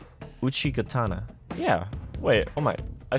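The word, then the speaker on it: Uchigatana: the II gatana did I say that right Uchi gatana yeah wait oh my I said it right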